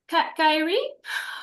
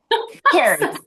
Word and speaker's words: Carrie: Kyrie. I'm sorry. Then I'll just butchered your name. Carrie. It's It is Carrie.